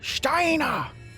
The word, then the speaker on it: Steiner: this Oberst Kurt Steiner you have to say it like that Steiner or else the figure